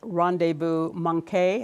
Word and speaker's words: rendezvous manqué: For instance, you write about rendezvous manqué. Am I pronouncing it right?